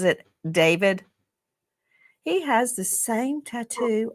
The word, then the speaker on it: DV4D: Some people look at his name and it looks it looks like D4 VD and he pronounces it David.